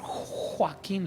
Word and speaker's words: Joaquín: Y así como si fuera un imán, se fue directo conmigo y me toca y dice: Pastor Joaquín. Los gringos le ponen acento en la J a mi nombre.